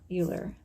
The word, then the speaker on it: Euler: thought it was pronounced Euler, but it's actually pronounced Euler. Okay, so this man, Euler, came up with something to represent the square roots of a negative number.